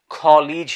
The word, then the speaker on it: college: So British people এটাকে উচ্চারণ করে থাকে college হিসেবে, college, college, college, college.